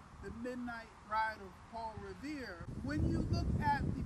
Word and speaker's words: Revere: night only paul revere only his name revere rhymes with the word year and perhaps that's why